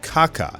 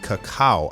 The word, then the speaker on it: Cacao: very formidable robot called Kaka this is the fighter that was actually part of tur Lass's crew in Dragon Ball Z movie 3 his name is actually pronounced cacao I believe so jenos beat this